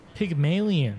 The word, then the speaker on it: Pygmalien: Pigon.